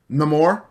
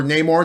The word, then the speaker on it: Namor: And this comes for one of the big things I want to talk about, because is Namor, or Namor, depending on how you want to pronounce it.